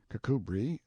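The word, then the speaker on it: Kirkcudbright: style being The Honorable Kirk cudbright Lanover Marjorie Banks sellers Viscount Berkeley of Charles mundely Castle Warwickshire pronounced kacubri slanover Marsh Bank sellers VI count Barkley of Chumley Castle Yorkshire he is standing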